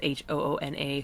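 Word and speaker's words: Hoonah: I think it's spelled at Huna, which is a really common misspelling, and it's Hoona.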